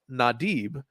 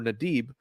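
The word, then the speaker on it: נָדִיב: Well, whenever you look up what that word is in Blue Letter Bible, you can see here the word is pronounced nadib or nadib.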